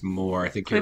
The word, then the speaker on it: Moher: like mohair, but I think it's more.